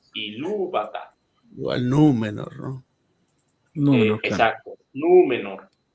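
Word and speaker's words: Númenor: yata nú no Exacto nu menor nu menor la segunda sílaba sería me Entonces no hay vocal larga no está seguida por grupo consonántico dos o más consonantes ent automáticamente me paso a la penúltima sílaba ojo eh de modo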